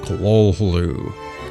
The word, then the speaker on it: Cthulhu: find anything authoritative, but apparently H.P. Lovecraft himself did give an interview where he explained how to pronounce it, and it was Cthulhu.